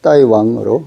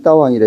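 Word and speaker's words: 大王: 예를 들면 대왕이란 명사는 표준어에서는 따왕이라고 읽지만 경극에서는 따이왕으로 읽으며, 그래서 대왕은 뭐 보통어로 하면 따왕이지만 경극에서는 따이왕, 왕도 아니고 왕으로 읽습니다. 따이왕, 따이왕. 그래서 명사는 표준에서는 따왕이라 읽지만 경극에서는 따이왕으로 읽으며, 광동의 대로도 따이로 이렇게 읽거든요.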